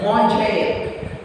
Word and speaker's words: manger: Okay, and then this J already I told when J is followed by or E Y. J will be pronounced Ja.